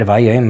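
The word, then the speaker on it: וַיֹּאמַר: to Hashem and said, and it's read Vayoymar. It's like that up and down zigzag, both in its shape and in the note of how it's pronounced.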